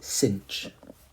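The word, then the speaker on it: sinh: coordinate of the unit hyperbola this we say cinch cinch is how you pronounce that so cinch is the y-coordinate of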